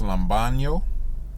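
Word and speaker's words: λαμβάνω: so that word receive the word receive is pronounced lambano it almost looks like a spanish word and then strong's g2983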